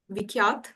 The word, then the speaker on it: Vikhyat: Am I pronouncing your name right? Vikhyat? Yes, you're pronouncing it right.